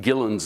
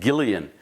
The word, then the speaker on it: Gillan: whoever and I pronounced I mispronounced Ian gillan's name I can't remember I think I said Gillian and I made of mine scoffed and said ah you don't know anything it's Gillan Gillan and know and that